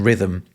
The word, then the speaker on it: rhythm: So ultimately the H in rhythm, it isn't doing anything.